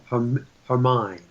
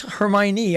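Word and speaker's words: Hermine: that is expected to become her mine that's how they're pronounce it yeah I just thought I was going to bring that up I saw that last night my mind just like m-i-n-e I was close Hermione I mean when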